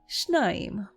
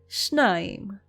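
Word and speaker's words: שניים: Let's move on to a number in biblical Hebrew, and that number is shnaim. Shnaim. Try to say it one more time. Shnaim.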